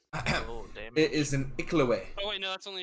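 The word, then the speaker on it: Iklwa: It is an Iklaway.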